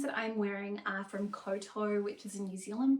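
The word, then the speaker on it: Kowtow: say the jeans that I'm wearing are from Coto, which is a New Zealand brand that I absolutely adore. And I have had some people ask me about the pronunciation. So, it's pronounced Coto as in Tenoto, Tenoto, Tenoto, Cartau, which is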